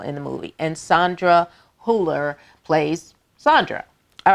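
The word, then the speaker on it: Hüller: stars German actress Sandra huller so they're the two little dots over the the U in her last name so you want to put that little German accent on that pronunciation um also Stars Milo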